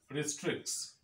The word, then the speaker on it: restricts: So that is why the rule is that you remove the sound that is represented by letter T, take it away, go ahead and speak your English without struggle.